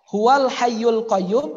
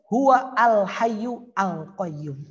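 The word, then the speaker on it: هو الحي القيوم: kalau ditulis seperti ini ada teman saya yang bacanya gua Al Hayyu Al Qayyum bahaya juga Mas Alif Lam dibaca seperti itu kan keliru ini penting kalau tidak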